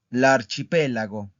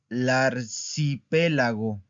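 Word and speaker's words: arcipelago: L'archipélago. L'archipélago. Vean cómo no digo l'arcipélago. Digo la archipélago, ¿ok?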